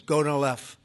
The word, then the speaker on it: Gonal-F: So it's Gonal-F. Is that a proper pronunciation?